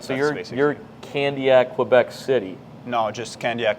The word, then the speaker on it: Candiac: That's Candiac is how would you pronounce it? Candiac.